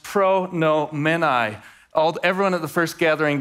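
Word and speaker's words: προνοούμενοι: So Paul's going to begin this statement with a good old participle, which is pronounced pronomenai.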